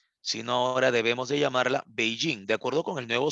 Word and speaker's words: Beijing: este sistema de traducción el Antiguo nombre de la capital china Pekín ahora ya no le ya no la tenemos que escribir de esa manera o pronunciar de esa manera si no Tendremos que mencionarla como Beijing se entiende la idea muchachos Entonces es la misma ciudad Solo que ya no debemos de llamar la Pekín sino ahora debemos de